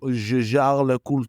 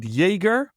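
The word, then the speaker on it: Jaeger: working for jarra jlc is it jger or jar oh no yeah we're we're going to go off topic with this but I can I can confirm that it's there's no Jagger there all right because we're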